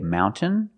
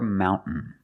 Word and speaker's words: mountain: You can say mountain or mountain.